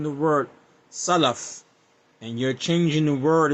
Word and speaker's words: Salaf: If you can't say the word Salaf correctly, and this is from my experience, if you cannot pronounce the word Salaf and you're saying Salaf, then I have to